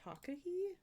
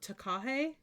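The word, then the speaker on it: takahē: Is it Takahi? It's a little bird, which can be found in New Zealand. How do I say this? Hold on. I have to hear it. Oh, Takahe?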